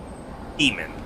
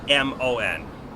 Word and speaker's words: daemon: You can pronounce it demon, or you can pronounce it daemon. They're both technically correct. They're both listed as valid pronunciations. However, I feel like the actual correct way is just demon, but I like daemon better. But I don't take a hard stance on how that word should be pronounced.